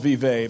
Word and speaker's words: Vevey: It's spelled Vevey, but in Indiana we say Vevey. I thought we said The same way we say Versailles rather than Versailles.